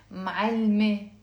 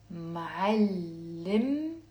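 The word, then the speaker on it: معلمتي: to say my teacher, I'm not going to say معلمة with the e plus another e. It becomes معلمة. That's wrong. What we do is we have to pronounce the te marbuta, and we actually drop the first e, and it becomes, say with me, معلمت.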